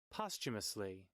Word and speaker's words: posthumously: translate a google dictionary and tell me one pronounce this word posthumously posthumously there you go hey so yes noble